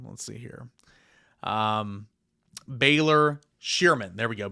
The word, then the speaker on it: Baylor Scheierman: Baylor Scheierman, I think is how you say his name. Let's see here. Baylor Scheierman. There we go. Baylor Scheierman.